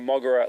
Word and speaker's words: Moguera: So let me get out while I can what Moguera stands for, which is Mobile Operations Godzilla Expert Robot Aerotype, which doesn't really sound like a very good acronym.